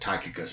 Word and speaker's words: Tychicus: And I pronounce it Tychicus, but some other people pronounce it differently.